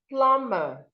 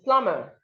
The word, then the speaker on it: plumber: So it's not it's plumber. The B here is silent, so you do not say plumber. It is plumber, plumber.